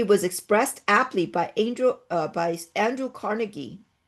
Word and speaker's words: Carnegie: This strategy was expressed aptly by Andrew Carnegie, or Carnegie, some people pronounce it that way, in his book Triumphant Democracy.